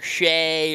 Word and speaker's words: Shai: Well, I know Shai Gilgeous-Alexander is the biggest one because it's either Shy or Shay or nobody knows which one it is. But it's Shay. Yeah. It's not Shy.